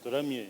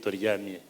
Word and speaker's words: Turamie: Some Ugandans don't know how to pronounce it. They call it Toriamie, which is wrong, but thank you for pronouncing it well.